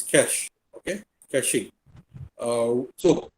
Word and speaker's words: cache: It's how you pronounce it. It's cache.